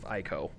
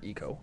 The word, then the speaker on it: ICO: The shining example of good escort missions, obviously, being the entirety of ICO, but, or ECO, I guess. Yeah, apparently that's how it's supposed to be pronounced.